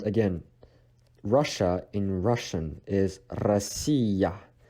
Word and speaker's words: Россия: And again, Russia in Russian is Россия. Россия. So ya is placed at the end of the word and is pronounced as ya as well.